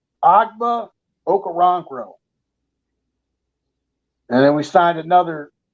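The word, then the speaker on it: Ogbo Okoronkwo: Texans his name is very difficult to pronounce agba okarangro but I pronounced it right agba okaronkro and then we signed another tied in Jordan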